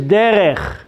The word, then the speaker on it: derech: Rada, There's no L on that third letter. It's Daled, Resh, and Chaf Sofit. So the word there is derech.